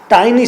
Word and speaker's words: tiny: टिनी बोलना है कि टाइनी बोलना है? हाँ, टाइनी सही लफ्ज है, TINY।